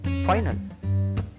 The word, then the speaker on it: final: Next one, final. How to pronounce in Spanish language? Final. Final. Final. Letter I, always E sound.